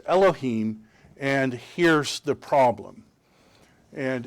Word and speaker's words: Elohim: the huge grammatical problem with this word it's pronounced elohim and here's the problem and in showing you